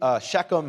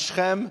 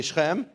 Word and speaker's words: Shechem: Now, in the English, you'll see Shechem and Hamor, but it's pronounced Shechem, say Shechem, and Hamor, say Hamor.